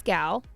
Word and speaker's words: Gal: Her name is Gal, rhymes with pal, Gadot, heavy on the T, and sounds like lot.